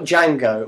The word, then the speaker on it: Django: so and then you've got Django which I was the D is silent they indeed very much